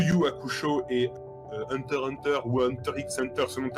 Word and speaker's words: Hunter x Hunter: que tu sais qu'il ne faut pas prononcer le x tu dis hunter a été instituée comme moi et que ton cerveau d'occidental reste à ce mail est l'unique ce soit muet à tuffé hunter x hunter 6 et captive enfin